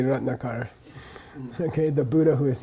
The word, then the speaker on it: Ratnakara: In English, we normally accent the penultimate syllable, the next to the last syllable. Ratnakara, Ratnakara, Yamantaka, Yamataka. Yeah, but if you know Sanskrit, you should be kind of giving more emphasis to the long vowel.